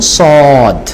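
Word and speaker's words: ص: যেমন আমরা সিনের ক্ষেত্রে বলেছি আই সি হিম, তো এটা যদি আপনি পাস্ট টেন্সে বলেন তাহলে কি বলবেন? আই স হিম, স।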